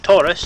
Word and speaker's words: Taurus: Tory, yeah, like Taurus, Tory.